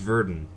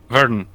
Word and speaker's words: Verdun: their dune basically our turns out it's pronounced Virdon Virdon wow radiation Verdun yeah